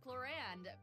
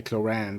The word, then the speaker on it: Clorinde: And hey everyone, I'm Crystal Lee, the voice of Fontaine's champion duelist, Clorinde. Pew pew pew, let's get Okay, Clorinde is how she pronounces it.